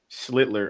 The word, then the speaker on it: Schlittler: Schlittler on the mound.